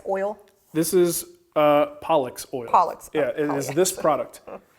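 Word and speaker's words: Polyx: And I said, excuse me, it is not. It is pronounced Pollux because it was corrected on that many times.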